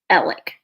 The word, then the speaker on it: Alex: Alec or Alex so he pronounces it himself ellic it is spelled a-l-e-x like Alex I think it's just